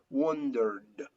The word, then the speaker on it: wondered: There is vibration, so that ed sound is pronounced like d, like d, d, d, wondered, wondered.